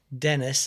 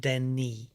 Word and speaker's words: Denis: Oh, someone has said Dennis. It's pronounced Denis.